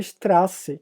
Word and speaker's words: Straße: E ele se lê SZ, mas ele tem um som de dois S's. Então, se eu pegasse a palavra Straße, que é nosso primeiro